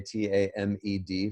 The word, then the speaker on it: tamed: it all together and even though we've still put an e in between the m and the d we don't actually pronounce it we don't say temed